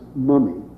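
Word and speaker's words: muimme: The old Irish word, spelled M-U-I-M-M-E, and as I understand it, pronounced mummy, is not used for the mother, but rather the foster mother.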